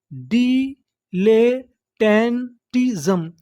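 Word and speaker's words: dilettantism: English का एक rule होता है कोई अक्षर दो बार लिखा हो तो हम लोग उसका उच्चारण एक बार करते हैं। तो मीनिंग क्या बनी DIDLE ले, डिले, TTAN इसे क्या पढ़ेंगे टान, TISM टिज्म, डिलेटेंटिज्म, डिलेटेंटिज्म, डिलेटेंटिज्म।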